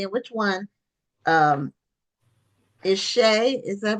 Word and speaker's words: Shea: So I don't know which one is Emily and which one um, is Shay. Is that how it's pronounced? It Shay. is. I'm Shay, and this is Okay, Emily.